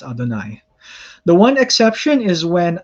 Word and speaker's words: Adonai: from here on out, whenever we run into the Tetragrammaton in the Hebrew text, we shall be pronouncing it as Adonai.